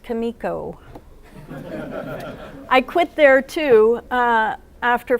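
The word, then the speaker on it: Comico: It's pronounced Kamiko.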